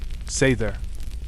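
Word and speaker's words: seiðr: Sometimes they used magic, specifically seed, pronounced, sther, part prophecy, part emotional manipulation, and part I'll hex my ex if I must.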